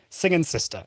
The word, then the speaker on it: Singing Sister: So, I mispronounced the name here. It is Sing and Sister. Singing Sister is the name.